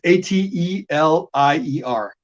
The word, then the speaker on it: atelier: It's ATELIER, atelier.